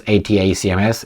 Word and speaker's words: ATACMS: you can they're gonna receive the attacks on Ada CMS and I will pronounce this atacms they say here that uh Army tactical missile